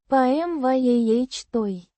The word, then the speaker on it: помятой: pm-YAH-той. With the stress on the second syllable.